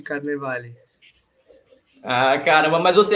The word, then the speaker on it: Carnevale: junto rapaz foi difícil eu achei que seu nome era era americano era inglês aí eu tava pronunciando carnavalo ol quase carnaval aí você me deu a corrigida tradução na Itália É Carnaval de Carnevale ah caramba mas você